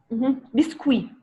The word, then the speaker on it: biscuit: tomate café oui limonade biscuit on ne prononce le T sandwich macaroni mayonnaise chips